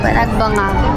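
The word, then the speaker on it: Panagbenga: Ay ayun na yon ma yung name ayun na kaako o ano mo pananggeng anong panangging panangging ano yung tamang pronunciation do panagbanga ha panagbanga panagbanga dito tayo sa panagbanga panagbanga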